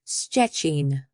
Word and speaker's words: Szczecin: This looks scary, but it's pronounced like sh. Simply sh followed immediately by chi with no gap between them. An example would be the city of Szczecin, and our word in the beginning for beetle, chrząszcz.